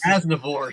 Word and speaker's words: Aznavour: Charles Aznavour. He was. Did I say his name right? No. What is it? It's close. Aznavour. Charles Aznavour.